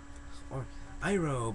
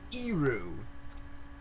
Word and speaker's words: Iroh: Or Iroh, but changed it to Iru.